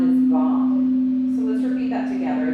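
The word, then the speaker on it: vaṁ: The Bija mantra sound is Vam. So let's repeat that together. It's a long A sound, so it's Vam.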